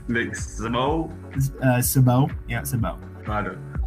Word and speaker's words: Szabo: And where we'd like to start is in 1997, Nick Szabo, is that how you pronounce that name? Nick Szabo?